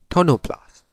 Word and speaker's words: tonoplast: We call it the tonoplast. Tonoplast. So the vacolle is surrounded by a tonoplast. That's the way I pronounce it.